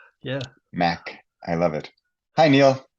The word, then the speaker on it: Mach: And I just got the proper pronunciation of his name, Neil Mach. With my German, I was going to say Mach, or my Dutch Mach. Yeah. Mach.